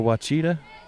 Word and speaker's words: Ouachita: She's going to Ouachita Baptist University, and I hope I'm pronouncing that right.